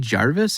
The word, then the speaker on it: Gervais: And my favorite one was Ricky Gervais.